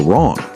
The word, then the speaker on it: wrong: Like the W in right or wrong. You don't say the W.